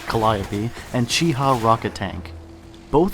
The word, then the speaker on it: Calliope: And in the Pacific, you have the Sherman Calliope, yes, it's pronounced Calliope, and Cheehaw rocket tank.